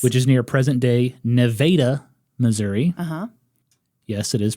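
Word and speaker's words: Nevada: __ ] yes which is near present day Neva Missouri uhuh yes it is pronounced that way population today 8,000 fun fact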